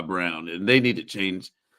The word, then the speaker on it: Braun: He needs to it's spelt Braun, and he's just gonna keep going by Brown, and they need to change the name of that too.